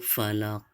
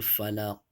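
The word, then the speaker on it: فلق: Qul a'udzu birabbil falaq. Qul a'udzu birabbil falaq. Jadi seperti itu. Jadi qafnya itu harus memantul ya, bil falaq di dalam tenggorokannya ya.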